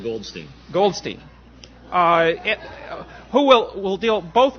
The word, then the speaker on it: Goldstein: I pronounce it Goldstein.